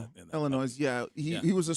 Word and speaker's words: Illinois: S is silent. Illinois.